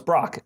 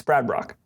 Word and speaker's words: Brach: I never know how to pronounce that guy's name. It's Brach. No, it's Brach. No, it's Brock. Brad Brock. It's Brad Brock.